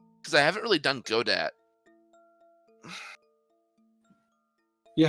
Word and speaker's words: Godot: Just to see if I can, because I haven't really done Godot. Yeah, how do you do you say Godot or Godot? I always say Godot, but it is Godot.